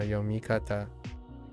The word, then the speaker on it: 読み方: 読み方 Yeah, Yomikata. 読み方 Yeah, no Renakus because yep. They're two separate words as opposed to oh, does not renda because rendaku almost never occurs on kata, even though it's a kunyomi.